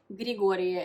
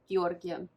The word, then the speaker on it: Giorgio: had to pause because I kept calling him grigoria instead of Giorgio and that's really funny